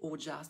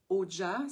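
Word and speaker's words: ojas: masser avec les huiles, on vient créer du haut jazz.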